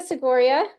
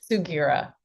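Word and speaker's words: Sugiura: Did I say it right? Sigua. Close enough. I always say and I go by first name because evidently this small town, Texas girl cannot get the the last name correctly. please say your last name for us. Sugira. Sugira. See, I just say it wrong every time.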